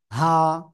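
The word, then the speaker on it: ح: ঠিক আছে হা সিম্পল হা গলার শুরু থেকে উচ্চারণ হবে হা এক আলিফ টান হা ঠিক আছে হা ওকে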